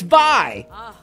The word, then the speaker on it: vai: got a penis by saying it wrong dude sorry bye they're like bye it's vi since you're here it